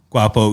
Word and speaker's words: guapo: Everybody, it's easy to say. Guapo, 2 syllables.